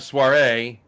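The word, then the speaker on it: Soirée: spelling it is pronunciation it's French it's French for evening right so when you have a soiree evening party nice you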